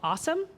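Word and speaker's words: OSoMe: really briefly is called awesome I know it's not spelled that way but they claim that's how it's pronounced this is all developed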